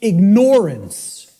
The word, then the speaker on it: ignorance: to say to people, the impact of the word is almost lost to us, of the word ignorance, because of the way it's pronounced. I tell people, start pronouncing it ignorance. Ignorance. Then people will hear the word ignore in it, and the connotation becomes clear.